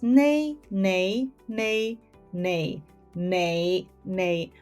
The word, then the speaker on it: 你: I take the example of the word nei.